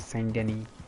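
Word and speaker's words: Saint Denis: but in terms when you pronounce it you pronounce it send any you don't pronounced as so there are a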